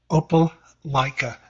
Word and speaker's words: Opelika: Opelika, Opelika, like Opie Okay.